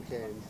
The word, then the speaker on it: Cairns: I've been plane spotting at Hobart as well when I lived there for a year, and at Perth, Mackay, Cairns, really, a lot of places.